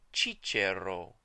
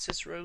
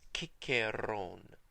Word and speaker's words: Cicero: But we know that at the time that Cicero lived, he was actually called Cicero because of Greek sources in biographies and in histories that wrote his name using kappa. And so we know that his name was pronounced without a doubt Ciceron.